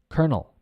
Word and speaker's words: colonel: o n e l looks like colonel colonel c-o-l-o-n-e-l and the pronunciation is kernel kernel like an r in there kernel it's not absolutely unrelated to the spelling you just have to